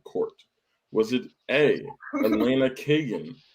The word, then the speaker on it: Kagan: them was i was i correct in her pronunciation a is the only one i do not know is it kagan yeah it's kagan yeah okay fantastic i'm better than i thought